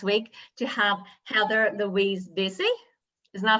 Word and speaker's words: Vasey: so excited this week to have heather louise busy is that how i pronounce it yes yes is from winnipeg and